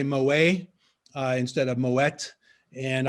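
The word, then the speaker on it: Moët: mo a instead of moet and i was corrected to say moet so that kind of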